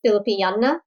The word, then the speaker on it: Filipiniana: she had me try my first Filipiniana dress. Am I pronouncing it right?